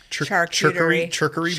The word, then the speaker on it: charcuterie: Charcuterie Charcuterie.